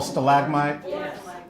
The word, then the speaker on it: stalagmite: Okay, stalagmite is spelled as? Oh, stalagmite?